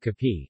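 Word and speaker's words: kape: options to take with Cappy which is the Filipino pronunciation of cafe coffee breads and pastries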